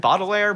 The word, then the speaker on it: Baudelaire: baudelaire that describes uh is that you pronounce it bottle layer layer yeah yeah i've only read his